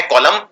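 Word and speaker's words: column: और बिल्कुल इसके मिलता जुलता शब्द है जिसको बोलते हैं कॉलम। कॉलम के अंदर भी आखिर में एन आता है और इस एन का उच्चारण नहीं किया जाता है। तो ये है कॉलम और ये है ऑटम,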